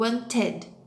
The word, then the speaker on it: wanted: de botar o Edi parece que eu falo Wanted eu pronuncio esse Wanted need u o OK Não